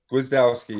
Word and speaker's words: Gwiazdowski: Nick, how do you pronounce that last name? That's a tough one. Wazowski. Gwiazdowski, yeah.